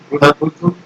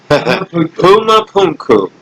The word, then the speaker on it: Pumapunku: Did I pronounce that right? Pumapuku? Giant H's and not Boston, Brazil, maybe. What was the question? Pumapunku.